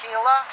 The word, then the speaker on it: Gila: And we're going to be passing over the Gila River. It's pronounced Gila, spelled g i l a.